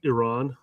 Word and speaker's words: Iran: I I would appreciate it if you pronounced my country uh properly. It's actually pronounced Iran. Oh, whatever. Iran, Iran, Iran.